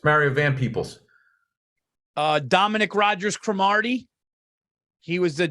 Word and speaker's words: Van Peebles: So I wasn't Mario Van Peebles, like Mario Peoples. It's Mario Van Peebles.